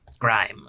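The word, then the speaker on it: Grihm: Grime or Grim. Grim. Grim. Depends on how you want to spell it.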